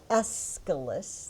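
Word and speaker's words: Aeschylus: It is called The Persians and it is by the playwright Escalus.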